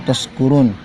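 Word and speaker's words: تشكرون: Nah, kadang kita mendengar orang membacanya itu la'allakum tashkurun, dia menggunakan sin bukan shin.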